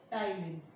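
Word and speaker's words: ptyalin: Salivary amylase is also known as टाइलिन. P is silent in this. P-T-Y-L-I-N. टाइलिन.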